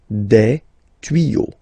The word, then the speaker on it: tuyaux: Okay, des tuyaux. Same rule, you don't pronounce it.